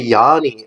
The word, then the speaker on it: Yanny: hear they never even pronounce it how it sounds which is rhymes with fanny that's exactly how it sounds except with the why it's oh yeah they pronounce yeah well I hear Yanni and it's like how